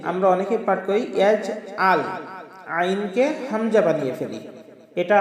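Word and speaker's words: يَجْعَل: সম্মানিত দর্শকবৃন্দ, এবার দ্বিতীয় আয়াতটি, আলাম ইয়াজআল, ইয়াজআল, এই যে আমরা অনেকে পাঠ করি ইয়াজআল, আইনকে হামজা বানিয়ে ফেলি। এটা আমাদের মারাত্মক ভুল হবে। আমাদের আইনকে আইনের মতো উচ্চারণ করতে হবে।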